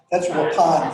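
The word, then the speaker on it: Waupun: I remember tuning in a weather broadcast, and they talked about Wappen. That's Wapan for you those of you that rural Wappen and Akananamawak.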